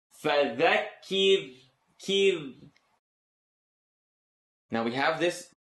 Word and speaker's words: فذكر: فذكر فذكر إن نفعت الذكرى فذكر ki the ra is light, the letter before it has something on the bottom. فذكر kir.